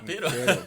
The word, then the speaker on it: perro: Mas e o pero não Existe perro e pero. Né? São eu dois não R's, são dois R's e um R. Mas às vezes na pronúncia passa batido, né?